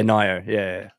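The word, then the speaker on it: Nioh: Yeah, Nio. Yeah. I think it said Neo, but it's spelt Nio.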